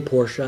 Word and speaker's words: Porsche: building price for Porsche should always say Porsche it's the proper pronunciation the price they cost